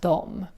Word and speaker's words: dom: Which is the Swedish word for them, but it's also pronounced as dom. Just like the Swedish they, which was also dom. So, remember dom dom dom dom dom.